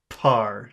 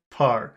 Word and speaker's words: par: you put your hands over your ears and you feel vibration when you say that word, par, you're saying it wrong. There should be no vibration because the air comes out, it doesn't go down.